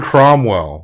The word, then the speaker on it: Cromwell: dad it is James cromwell's dad John Cromwell was an actor and director I did look him up I just I thought it was chomel but I didn't want to say it wrong he's funny in this